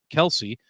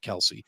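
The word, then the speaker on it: Kelce: by Jason and Travis Kelsey. I saw somewhere where everybody's saying their name wrong, and it's like Kels instead of Kelsey.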